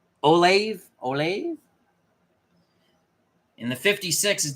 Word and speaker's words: Olave: the 12 here I don't know how to pronounce that gentleman's name o l a v a e olave olave in the 56 is definitely going to